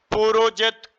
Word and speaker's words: पुरुजित: किस प्रकार बोलेंगे पुरुजित रू में भी छोटा उ है पु में भी छोटा उ है तो किस प्रकार बोलेंगे पुरुजित कुंत भोज पुरुजित कुंत